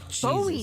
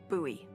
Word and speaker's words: Bowie: out this huge Rusty boy knife it's actually pronounced buoy what buoy no it's like the last name like David Bowie different last name buoy